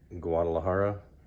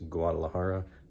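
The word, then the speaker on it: Guadalajara: a firsthand look at guadalahara that's how it's pronounced in the United States guadalahara Mexico and the state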